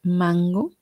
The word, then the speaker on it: mango: Si ustedes pronuncian mango, así ahí pronuncienla en su casa, mango, van a sentir como la N se va hacia atrás, como que sigue a la G, mango.